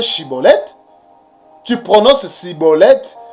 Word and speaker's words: Shibboleth: né pas être saisi il faut bien pronocé shibboleth il ne faut pas prononcer ciboulette et ne soit pas prononcé ciboulette est pourquoi